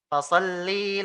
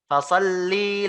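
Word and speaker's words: فصلّ: Tapi coba antum teliti lagi. Fasalli li rabbika wanhar. Li-nya panjang. Fasalli. Ya. Padahal ya hurufnya fasalli, li-nya pendek, Pak. Nah, seperti ini. Tertulis di Al-Qur'an itu pendek.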